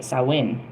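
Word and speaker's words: Samhain: Uh, Saheim is the Celtic name and is pronounced sawin. Um, the O in the word rhymes with how.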